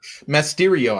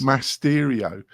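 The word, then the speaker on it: Masteriyo: Have I butchered the name completely, Kurt? I think maybe you have. I think it's Masterio. I think it is. Masterio.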